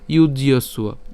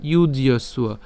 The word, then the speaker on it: যুজ্যস্ব: এরপর তত যুদ্ধায় যুজ্যস্ব, আমরা এটা একসাথে উচ্চারণ করব যুজ্যস্ব, যুজ্যস্ব নৈবং পাপম অবাপ্স্যসি।